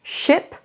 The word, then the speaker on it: ship: Le premier, c'est un bateau, ship, c'est un I court, et le deuxième, sheep, sheep, c'est un I long.